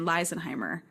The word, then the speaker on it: Leisenheimer: pronounce it Leisenheimer, but they always get it in the second half, right? Like the EI being an I sound, but the beginning they don't. So, but it's the same pronunciation, Leisenheimer, throughout for the EI.